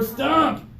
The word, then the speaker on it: stump: me stomp stomp yeah do you hear the pressure and also do you see her move her head when she did that cuz she's putting that pressure okay H your turn for stump St good nice job